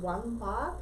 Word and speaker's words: Wambach: Helen, I think it's pronounced Wambach. It's Wambach.